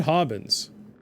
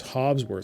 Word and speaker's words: Hobbsworth: can you fix it it's not hobbins it's hobbsworth so it's not the